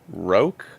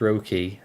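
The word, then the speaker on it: Roke: pronunciation of this one is it Rogue that's how I've always pronounced it or is it rookie I'm pretty sure it's rookie uh r-o-k-e typhoon rookie um our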